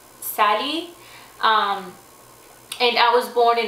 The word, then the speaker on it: Sally: my name is Sally we don't pronounce it like that back home we pronounce it Sally and I was born